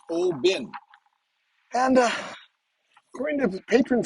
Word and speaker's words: Oban: well good evening everyone we are here in oben oban but it's pronounced oh bin and uh according to patron saint rick this